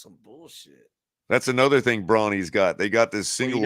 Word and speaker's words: Brawny: It was like, what are brownie paper towels? Brawny.